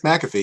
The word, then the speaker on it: McAfee: here with Michael McAfee please tell me I'm pronouncing your name right Michael it's McAfee yes perfect okay so um he's